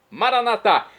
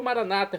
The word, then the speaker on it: Maranatá: E agora eu clamo do aramaico, dialeto de Jesus, Maranatá, como dizemos nós católicos, ou maranata, como dizem nossos irmãos, separados, os evangélicos ou protestantes. Não importa a pronúncia, o significado é o mesmo.